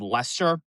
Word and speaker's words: Leicester: They can't even pronounce it called Leicester. I bet you've never heard of that town, have you? Leicester, Mass?